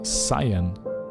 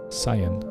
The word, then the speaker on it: cyan: do you pronounce it ah sayan cyan cyan okay in german you would say it's on but it's basically written the same way so cyan let's mark